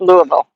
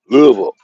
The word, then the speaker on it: Louisville: And Mr. Rizzo says it's pronounced Louisville. Louisville. Yeah, it depends on where you come from. It's Louisville, Louisville, wherever.